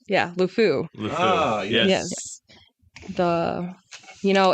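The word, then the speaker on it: LeFou: has a little sidekick named how do you pronounce it lefu yeah lfu yes yes the you know it's kind of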